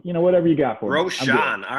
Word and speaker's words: Rochon: I say Rochon, but I'll whatever you got for me. Rochon.